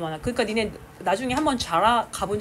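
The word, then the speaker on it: Zara: Z 발음 잘해야죠. 자라. S&M.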